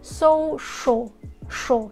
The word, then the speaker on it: social: thói quen á, là phát âm social, đại loại vậy đó. Nhưng mà nếu mà được á, thì cố gắng phát âm cái vần CI, cái khúc mà CI á, là social, chứ sờ nó nhẹ đấy các bạn.